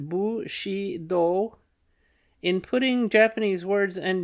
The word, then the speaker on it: Bushido: understanding feudalism and Bushido footnote pronounced bu she do in putting Japanese words